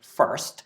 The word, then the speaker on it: fst: It's usually pronounced first, and what it does